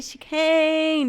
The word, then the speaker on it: Chicane: and I'm next to the one and only she can do I say pronounce it right it's right yeah you can